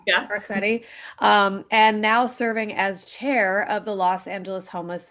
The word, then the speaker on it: Garcetti: Garcetti.